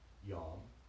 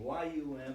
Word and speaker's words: Yom: So, I gave you the name Yom, which is somewhere between Y-U-M and Y-A-W-M, Yom.